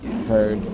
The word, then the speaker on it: Heard: is back country amber her last name heard rhymes with turd and she put a